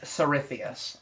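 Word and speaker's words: Tsarithius: um okay yes uh you're pretty sure you're in the southern region of Prof known as sarithius um probably the northern section of that region um which is spelled t-s-a-r itheus i-t-h-i-u-s um so you're pretty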